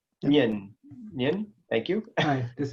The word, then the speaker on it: Nguyen: pronounce that right? Okay, thank you. See you guys. And then Joe Nguyen. Yun.